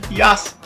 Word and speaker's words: Yasuke: But his name with the U silent as in Japanese is Yas.